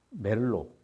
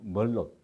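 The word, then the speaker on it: Merlot: 또 똑같은 클래식 시리즈에서 멜로 뭐 부르식으로 발음하면 티를 발음하지 않겠죠 멜로라고 하고 영어식으로 발음하면 뭘로 뭐 이렇게 되겠는데 뭘로나 이렇게 또 페룰루라는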